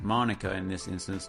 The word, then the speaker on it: Manuka: native to Australia but for some reason it's pronounced Monica in this instance not Manuka maybe I've just been pronouncing the honey variety